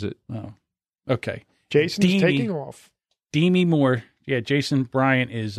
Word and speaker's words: Demi: Moore be me that she pronounces it D me really it's an angry if people say Demi really yeah so wrap